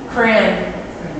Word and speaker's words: crayon: I would say crayon. Like it rhymes with man.